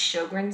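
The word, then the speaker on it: Sjögren: surgically and pretty successfully shogren syndrome that's pronounced shogran syndrome this is a Sy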